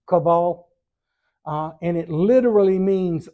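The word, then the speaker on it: Chavvah: of all living the the hebrew word here is kaval c h a v v a h pronounced caval uh and it literally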